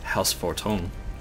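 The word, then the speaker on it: Haurchefant: got to remember that it's pronounced house fort home was in the spirit of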